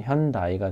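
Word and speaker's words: Hyundai: 그래서 많은 혼동이 있는데 스펠링을 그대로 읽다 보니까 그대로 된 겁니다. 예를 들어서 현대 있잖아요. 현대. 그거는 이제 스펠링이 이렇게 돼 있거든요. 그러면은 일본 회사 중에 건담 프라모델 키트를 만드는 이 회사가 있습니다. 이건 어떻게 읽냐면 반다이라고 읽어요. 그러면 이거를 어떻게 읽을까요? 다이라고 읽겠죠. 그러면 현다이가 된 겁니다.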